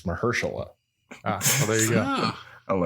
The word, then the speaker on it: Mahershala: It's Mahershala.